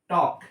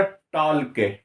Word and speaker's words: talk: आप गौर कीजिएगा कि मैं एल को नहीं ले रहा हूं, एल को छोड़ करके मैं उच्चारण कर रहा हूं। ठीक है, अगर एल को लेता मैं तो बोलता टॉल के, टॉल के, टॉल के तो मैं नहीं बोल रहा हूं, लेकिन टॉक बोल रहा हूं।